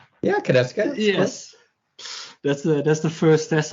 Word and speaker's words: Konieczka: Welcome, Corey Konieczka, if I pronounced it right. Yeah, Konieczka.